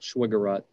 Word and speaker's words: Schweigeraht: I'm not gonna, if you could tell me how to pronounce your name, I will pronounce it, but I'm I don't want to be rude. People do. Schwiggerot. Okay, Mr. Schwiggerot.